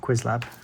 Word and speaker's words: Qwiizlab: So, uh I pronounced this quiz lab, but it's like do two I so it's like quiz lab, but I'm going to call it quiz lab. Like doing a quiz.